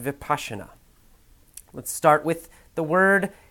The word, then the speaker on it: Vipassana: vocabulary lesson is for the Vipassana article it's pronounced Vipassana let's start with the word kidneys in the